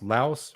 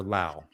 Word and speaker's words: Laos: it with an S because in French the S is silent so it's actually Lao so yeah I've heard